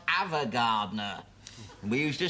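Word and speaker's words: Ava Gardner: Evergardner. Avergardner. It's pronounced Avergardner.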